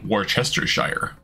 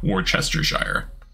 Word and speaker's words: Worcestershire: Worcestershire. Worcestershire. We've done this meme before. Like, I'm pretty sure you try to make it as close to one syllable as you can.